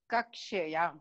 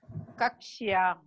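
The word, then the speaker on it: कक्ष्या: should be pronounced as it is. Yes. Vidyalaya Sambandhini Padani. Okay. Kakshaya. Again. Kakshya.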